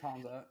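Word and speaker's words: Khamzat: He's the only one who can wrestle Kismet or Kamzat, whatever his name is. Yeah, I don't even know actually how to pronounce dude's name. It's Hamzat.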